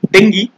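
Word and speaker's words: dengue: लेकिन जो इस तरह के हाईली इन्फेक्शियस वायरसेस है, corona virus, Ebola, yellow fever viruses, डेंगी, हाँ इसको डेंगी प्रोनाउंस करते हैं, स्वाइन फ्लू और बर्ड फ्लू, ये लोग कर सकते हैं सेप्सिस को ट्रिगर।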